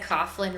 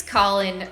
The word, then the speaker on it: Caughlin: when I moved here, I probably said Caughlin Ranch for a good 2 years before somebody corrected me. It's spelled Caughlin, which to me, I would read that as Caughlin. I don't know, maybe I'm a weirdo, but it's Caughlin Ranch.